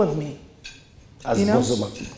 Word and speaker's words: Bozoma: Bozoma. Correct, and pronounce it. Yes, Bozoma, it's correct, you know?